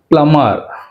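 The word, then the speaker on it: plumber: ప్లమర్ ప్లమర్, ఇక్కడ be pronunciation అనేది మనకి ఇక్కడ లేదు, ప్లమర్.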